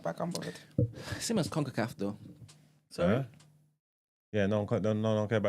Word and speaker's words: CONCACAF: CONCACAF, as in conquer the emperors, Yeah, it's pronounced like that.